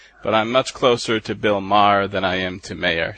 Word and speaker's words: Maher: Well, actually, this gets complicated already, but, okay, Bill Maher, it's Bill Maher, as in M-A-R-R. And with my name, it is Maher, so you actually say 2 syllables. But I'm much closer to Bill Maher than I am to Mayer, so.